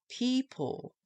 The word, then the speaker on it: people: People. Doesn't sound very right, does it? People. But it's spelled P-E-O-P-L-E. In phonics, the logical spelling would be P-E-E-P-L-E. Or just P-E-E-P-L. Because the children will be spelling